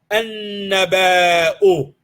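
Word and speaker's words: النبأ: Alif Lam is on the word naba'un, then it becomes an-naba'u. And we know we don't pronounce the lam part because noon is for huruf al-shamsiyya, right? There's a shadda on it.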